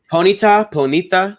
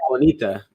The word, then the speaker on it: Ponyta: Ponita. It's definitely not Bonita. This wasn't a Puerto Rican game. Got the new Bonita? Yeah. I think it's Ponita because pony.